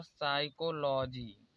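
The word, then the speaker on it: psychology: साइकोलॉजी तो यहां पर एस से पहले पी आया है तो इसलिए यह पी यहां पर साइलेंट है इसे पढ़ा जाता है साइकोलॉजी यहां पर भी देखिए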